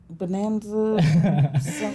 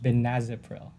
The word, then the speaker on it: benazepril: Bonanza. I can't. Yeah, it's really hard to say. A lot of patients, I have trouble saying it sometimes. It's actually pronounced benazepril.